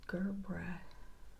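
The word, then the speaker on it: gerbera: Okay, I'm back and Google says Gerbra daisies.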